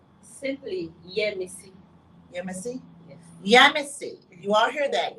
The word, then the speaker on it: Yemisi: correct name, because I do not like to mispronounce people's names. Okay. So the first name. Simply Yemisi. Yemisi? Yes. Yemisi. You all hear that? Yemisi.